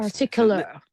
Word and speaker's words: particular: It's not particular. It's particular. Particular. Particular. Yeah. Particular. She don't she don't pronounce the R, the first R, too.